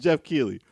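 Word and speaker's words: Geoff Keighley: his name is it's GI it's pronounced it's pronounced Jeff key but the way it's spelled is it's a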